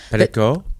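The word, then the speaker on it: Pelicot: Pelico.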